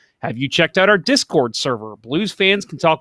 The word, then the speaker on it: Discord: your last week ben i just noticed that you and i say discord differently we you we just scored the different emphasis on different syllables that's true you say you say you said discord and i say discord